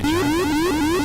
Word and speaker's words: Gyrus: Some people pronounce it Gyrus. I've heard them say that. Gyrus. What's up, guy? You like Gyrus, guy? I'm not your guy. I'm your son. Anyway, I don't know. Whatever. I don't know why you would pronounce it Gyrus. I don't know why that is, but some people choose to do that.